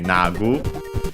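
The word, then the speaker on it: 薙ぐ: Okay, nagu. It's actually from nagu then. Okay. Accented on the first one.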